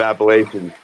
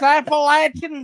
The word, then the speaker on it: Appalachian: But regardless, you said Appalachian. Love it, brother. It's Appalachin. Damn.